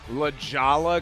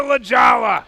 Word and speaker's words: La Jolla: Now, this is in Torrey Pines, which is what, La Jolla, California?